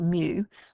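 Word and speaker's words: μ: The two parameters, okay, are this one here, which is mu, it's pronounced mu, and that is the mean, and this one here, which you've met before, which is the variance.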